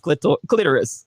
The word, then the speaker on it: clitoris: word is clitoris correct how many fully grown women don't know it's pronounced clitoris that got me saying